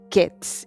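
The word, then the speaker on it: קץ: En hebreo hay algo así como una especie de un juego de palabras entre fruta de verano, que se pronuncia kayitz, y fin, que se pronuncia ketz.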